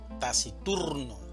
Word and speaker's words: taciturno: La mayor fuerza de voz la vamos a hacer en la sílaba tur, taciturno.